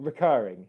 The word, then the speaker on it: recurring: Can you hear where the stressed syllable is? Recurring. I hope you can hear recurring. It's on the second syllable.